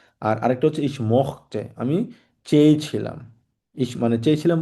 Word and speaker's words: mochte: আর আরেকটা হচ্ছে ইস মখতে, আমি চেয়েছিলাম।